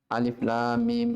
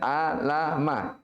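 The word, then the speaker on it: الم: sebelum disekitar bacaan diatas jadi cara membacanya dia bukan dibaca per huruf a Bukan dibaca berkata tapi dibaca per huruf alif dikembalikan ke asalnya alif.lam.mim ya Bukan ah lama tapi apa per huruf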